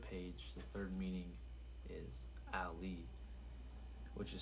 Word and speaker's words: Aely: So Ali, which is Ali is spelled ALEY, but for the third page, the third meaning is Ali, which is spelled AELY, which is my conscious mind, right?